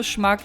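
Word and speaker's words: schmuck: Also, Schmack heißt Trottel und es wird wirklich Schmack ausgesprochen.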